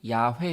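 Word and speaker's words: 야훼: 바로 여호와 가 되겠습니다 엄밀히 말해서 사실 여호와 가 하나님의 이름에 진짜 우리 지날 발음 인지는 알 수가 없어요 원래 히브리어 에는 자음 밖에 없는데 거기에 아도나이 나의 주님 이라는 단어에 모음 을 따서 읽기 는 아도나이 라고만 읽었습니다 그러다 보니 거기서 하나님의 이름이 여호와 로 발음되는 현상이 나타난 겁니다 요즘 학자들은 원래 발음이 야외 였을 것이다 이렇게 추측을 합니다 사실 하나님의 이름은 어떻게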